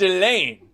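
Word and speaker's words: Ghislaine: my wife it's gillane no the s isn't pronounced they haven't been pronouncing the the s that part i know yes that's all i know it's elaine bye so uh that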